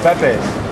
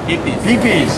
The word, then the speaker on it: Pipis: are you very good this is uh pepes pee pees pee pee see i've been saying it wrong all right okay here